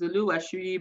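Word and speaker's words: Oluwasuyi: but I call it Oluwa Suyi because SU, but the Yorubas, they don't pronounce S, they pronounce S as SH. So pardon me, it's Oluwa Shuyi, but it's Oluwa Suyi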